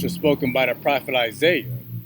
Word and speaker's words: Isaiah: And Isaiah is a Greek pronunciation, but in the Hebrew is Isaiah.